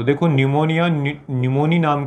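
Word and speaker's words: pneumonia: हालांकि इसका जो अंग्रेजी में लिखते हैं निमोनिया को, तो थोड़ा सा जो स्पेलिंग है वो पी से स्टार्ट होता है, ऐसे स्टार्ट होता है न्यूमोनिया। तो पी साइलेंट रहता है, लेकिन जो न्यूमोनिया है तो निमो से न्यूमोनिया हो गया।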